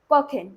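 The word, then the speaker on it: kochen: वाला साउंड रहेगा, क्योंकि ओ के बाद आ रहा है। ये मैंने प्रोनाउंसिएशन वाली क्लासेस में बताया था। कॉखिन।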